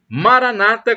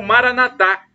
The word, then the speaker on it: Maranata: de Jesus eu clamo Maranata como dizem os protestantes e evangélicos ou Mara nadar como dizem os católicos os primeiros colocam a tônica na penúltima sílaba e nós católicos é a tônica na última sílaba mas não importa somos